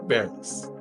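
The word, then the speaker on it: Barris: Chuck rhymes with Norris. Chuck Bareris.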